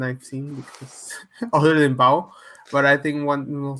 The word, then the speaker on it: Bao: reasons because it's just not available uh yeah bow that's what i think what it is are we pronouncing it right yeah okay i want to make sure because when i first thought i'm like oh bao it's not like i know that's what i